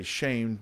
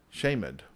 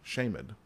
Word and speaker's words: Shamed: uh we would say shamed but uh it's actually pronounced uh shamed yeah the pronounce is actually the word the D is actually its own little syllable shamed who built Ono and